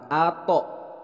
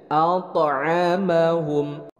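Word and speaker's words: أطعمهم: bukan Atok tapi toknya ada pantulan jadi bacanya alto'ammahum bismillahirrahmanirrahim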